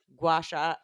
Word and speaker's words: gua sha: You'll learn about gua sha.